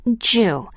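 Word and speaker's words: 十: 10 is considered a good number in Japan because it is pronounced ju, like the Japanese word for enough.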